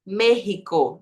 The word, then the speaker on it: México: poro sonido J que mudaram o nome do país colocaram x aí X no nome do país mas mantiveram a pronúncia povo já tava acostumado a falar mrico claro não vamos manter Vamos mudar a grafia Mas vamos manter a pronúncia então continuou a pronúncia sendo merico no país México as coisas